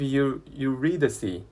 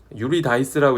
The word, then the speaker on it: Eurydice: 그래서 the story of him and his wife Eurydice. 네, Eurydice라고 읽어야 돼요. 유리다이스라고 읽고 싶지만 그러면 안 돼요. Eurydice라고 하시고요.